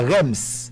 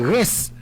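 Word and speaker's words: Reims: c'est stade de R c'est R E I M S mais c'est pas REMs c'est stade de re phonétiquement c'est reince pas pour ça normalement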